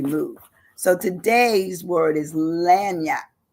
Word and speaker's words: lagniappe: today's word is lanap lanap and lanap is spelled now get this it's spelled l a g n i a p p lanap you wouldn't even believe it you would think it would just be l n y you know well Yap